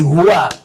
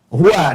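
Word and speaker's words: هو: hu ini singkatan dari hua hua dari mana tahunya singkatan karena kalau kita wakaf dalam kalimat Hua kita enggak baca Hua bacanya hu ya Quran surah ke-2 Albaqarah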